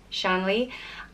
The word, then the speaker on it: Shanley: the next name is Shanley and is pronounced similar the way it's spelt li Shang Lee and this is another